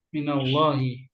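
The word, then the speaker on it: مِنَ اللهِ: Jadi ketika dibaca minallah, alifnya nggak dibaca. Minallahi. Nah, kan dia wasal langsung.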